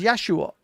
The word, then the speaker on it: Yeshua: different thing but actually the name Jesus is quite is quite far from the original like Aramaic pronunciation exactly because his name is Yeshua in the original and I don't think